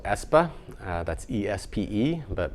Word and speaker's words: Espe: That's E-S-P-E, but pronounced Espe.